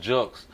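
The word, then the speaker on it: Julkes: I like that yeah I mean yeah it's pronounced jokes but then you got people that say jokes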